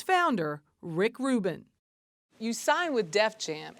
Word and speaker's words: Rick Rubin: She couldn't remember the name, couldn't pronounce it correctly. Stick Stubin, Stick Lubin, Dick Van Dyke, you know, just anything but Rick Rubin.